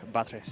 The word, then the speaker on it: Batres: hey so i was heard it's pronounced buttress my name is petrus my name is batres you killed my father